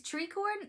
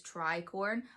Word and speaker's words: tricorn: The next one is treeorn. That's what um the internet says I'm supposed to pronounce it like. I was reading it as Tricorn, but this is like a little triangle hat, military style hat.